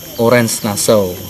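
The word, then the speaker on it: Oranje-Nassau: Memang tulisannya Oranje, cuma anunya kan Orange Nassau. Orange Nassau. Oh, Orange Nassau ya. Bacanya.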